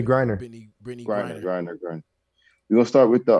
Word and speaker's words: Griner: start with the brittany gartner how do you say our last name garner brittany griner we're gonna start with